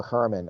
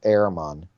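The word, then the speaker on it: Herrmann: Next on my list is Walter Herman, or how it's pronounced, I believe, is Ehrman.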